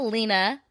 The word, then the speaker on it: Lena: go Valentine's Day 2006 I think this is pronounced lenia but everyone calls her Lena so Len lenia Lena chapen a daughter a